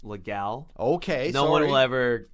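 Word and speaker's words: Leduc: Okay, well, I noticed that you grew up in legal Alberta. Yes, it's actually pronounced legal.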